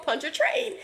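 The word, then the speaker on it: Pontchartrain: say it it's called punch a train right I hope that's how you saying but she was like yeah it's like punching a train I was like okay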